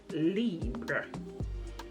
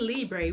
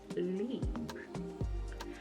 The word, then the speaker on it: Libre: Actually, the correct pronouncing of this is YSL Libra. It ain't Libre. We made that name up. It ain't Libre, but it's actually pronounced YSL Libra.